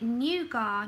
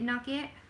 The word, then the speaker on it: nougat: Is it nougat? Nougat? Do you know I used to call it nugget? Everyone's going to laugh at me. I used to call it nugget. But it's nougat.